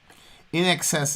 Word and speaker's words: INXS: just regular little carmen in excess is how you pronounce in excess i was